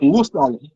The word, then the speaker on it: Hurstel: Moi moi j'ai envie de dire Urstel.